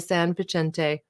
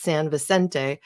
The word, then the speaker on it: Vicente: the public with the San picente which apparently I always insist on pronouncing wrong I believe it's San Vicente Redwood forest in Santa